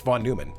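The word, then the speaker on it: von Neumann: update Von Newman How would you pronounce it Von Numan Von Numan Von it's Von Numan that's how it's pronounced it just like neutral neutral uses the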